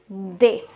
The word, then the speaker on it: des: Now here the S is silent, so it will be pronounced as they.